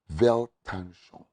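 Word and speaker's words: Weltanschauung: first day i saw the word vel tanzhon is is a german word it is spelled with w it simply means world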